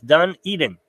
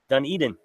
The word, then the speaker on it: Dunedin: at least it's kind enough to help me pronounce that again it's done Eden Dunedin thank you I'll forget by the next time